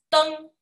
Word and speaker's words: 登: 高，这个字读作 " 登 "。